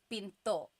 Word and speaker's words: pinto: Pinto that's door Pinto do you hear the gadal stop when I say Pinto Pinto so it's not Pinto it's not pinto beans right it's Pinto it's Pinto Pinto make sure you stop it at the end